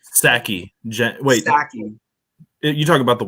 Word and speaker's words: Psaki: So just a few days ago, the White House press secretary Jen Psaki, or however the freak you pronounce her name. It's Psaki.